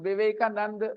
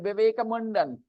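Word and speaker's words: Vivekananda: और वो लोग कह रहे कि उन्होंने बदला लिया था, because he Donald Trump pronounced Vivekanand very wrongly. He said Vivekamundan.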